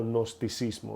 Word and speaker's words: gnosticismo: conoce como agnosticismo o gnosticismo, ¿verdad? Se escribe con una G al principio.